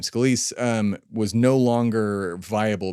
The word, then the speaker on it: Scalise: scal yeah that's how you say his name scalise um was no longer viable because Trump yelled